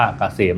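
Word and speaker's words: KSCM: แอด นำ หน้า นะ K SCM อ่าน ว่า เกษม นะ ครับ สำหรับ ท่าน ที่ เดิน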